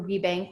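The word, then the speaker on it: WBENC: owners i work for rebank which stands for women's business enterprise national council it is not a bank but that's just how the acronym is pronounced and there are regional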